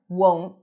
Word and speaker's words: won't: Won't, won't, won't. Will will not. Why will you not talk to me? So, won't. Make sure you pronounce the long O sound. Otherwise, it might sound like want.